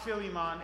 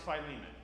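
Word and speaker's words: Philemon: It's not Filimon. It's Phileiman.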